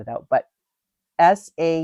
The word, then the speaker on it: sauna: And uh so I just wanted to point out that uh it is pronounced sa, not sauna.